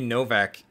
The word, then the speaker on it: Novak: I would think it would be Novak. Pronounce it like a V, like one of those European type of things.